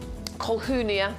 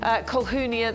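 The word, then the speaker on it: Colquhounia: The Nepalese Flame, Colhunia, that's how you say it, by the way. Colhunia, the Nepalese Flame, 3 9cm pots here.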